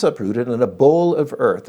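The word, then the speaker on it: boll: So if it's uprooted in a bowl of earth, it's pronounced bowl, B-O-L-L, it's like a bunch of earth tightly packed around the roots, remains attached to it.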